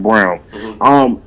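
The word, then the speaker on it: Braun: After he gets off the court, Brown, he spells his name Brawn, but it's pronounced Brown.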